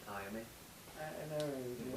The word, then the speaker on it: Iommi: How do you pronounce his last name? Iommi.